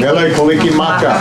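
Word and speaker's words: Mele Kalikimaka: Mele Kaliki Maka.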